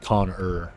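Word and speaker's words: Khan-Ur: Not conor but coner. It's spelled really weird.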